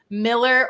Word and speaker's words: Mueller: I had a builder say that it's pronounced Miller. I swear I've heard that before, but everyone says Mueller.